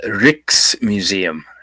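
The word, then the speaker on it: Rijksmuseum: It's Dutch Rick's museum. Rick's museum with a J in it is big.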